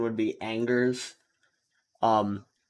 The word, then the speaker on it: Angers: how to pronounce this in english the person pronunciation would be angers um like we say we don't really follow